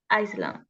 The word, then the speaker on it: island: The book is about a month would live on a small island. Island. Remember, island. Island. Yes, island. Okay. And this, the pronunciation of this is live, right?